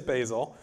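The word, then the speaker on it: Bazel: actually the same thing they just got their pronunciation story worked out recently it is basil and if you're not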